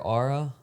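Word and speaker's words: Oura: I pronounce as aura. Yeah. But that is spelled o u r a.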